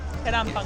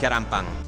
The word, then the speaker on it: 계란빵: 계란빵. Keranpang.